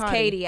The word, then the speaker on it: Khadi: we all say Khadi. Yeah. She definitely said Katie on her video, and I forgot. Her name is Khadi Don, but it's spelled KHADIDON. Black people being creative.